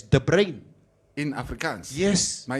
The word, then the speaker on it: De Bruyne: Because the surname is pronounced historically as De Brain.